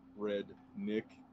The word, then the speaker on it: Aurednik: Yeah, so I'm Travis Aurednik, and it is pronounced Aurednik. So, of course, Redneck's been my name my entire life.